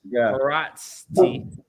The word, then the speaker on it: Haraszti: And shout out to Doc Chris Haraszti.